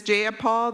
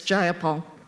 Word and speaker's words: Jayapal: you agree with Miss J appal that there was no takeover it was just if you're going to say my name please say it right it's jayapal jayapal do you would you